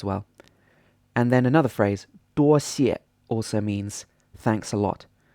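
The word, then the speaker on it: 多谢: And then another phrase, 多谢, also means thanks a lot. 多谢 is a first tone, then a fourth tone.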